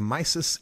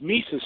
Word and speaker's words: Mises: be on your show it's Mises Institute actually it's spelled my sis but it's it's mi se s dot o RG it's